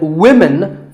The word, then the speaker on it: women: crazy spelling system but remember that we say woman for one woman and women for the plural women word number six is police